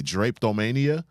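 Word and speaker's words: drapetomania: Drape Drape Domania. D R A P E T O M A N I A. Draped domania.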